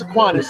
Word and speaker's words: Aquinas: Calvary plays Aquinas.